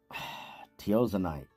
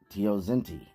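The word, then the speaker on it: Teosinte: Teozanite. No. That's not it. Teozinte. That's how you pronounce that.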